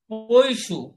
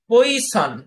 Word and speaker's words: Poisson: ফরাসি গণিতবিদ Simon Danish পৈশু, উচ্চারণটা পৈশু, কিন্তু ইংরেজিতে উচ্চারণটা আপনি পরীক্ষার জন্য মনে রাখেন পইসন, আপনি এভাবে মনে রাখেন, তাহলে বানানটা আপনার মনে থাকবে।